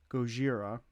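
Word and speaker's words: ゴジラ: 1954 The original Japanese I say how it's said in uh Japan is Gojira, not the metal band.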